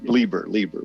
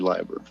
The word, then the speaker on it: Lieber: And don't worry, I was going with the LeBeer pronunciation of your last name, but everybody pronounces it Lieber, but it is actually Lieber.